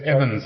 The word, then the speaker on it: Emmons: Is that how you say it? It's Emmons, actually. Emmons. Yeah. Emmons. Yeah, no one ever got that right.